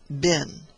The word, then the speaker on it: been: the word bin which the English invariably make to rhyme with green and we Northerners at least in accordance I think with the custom of Shakespeare's time universally pronounced bin all the matters that